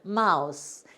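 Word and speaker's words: mouse: 마우스 이렇게 쓰는데 자, M 하니까 미음 있죠? M에 미음. 그 다음에 여기 O는 아 소리가 나요. O가 무슨 소리 난다고요? 이따가 여기다 해드릴게요. 아 소리가 나고 여기 U를 그 사람들이 우라고 발음해. 요럴 때 우리가 이제 따라서 가야 돼요. 그리고 S가 쓰다. 요건 소리 안 나요.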